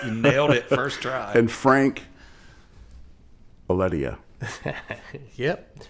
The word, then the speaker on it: Franc Aledia: And Franc Aledia. Yep.